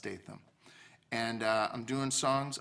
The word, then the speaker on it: Statham: a t h m it's kind of like statam but pronounced STM and uh I'm doing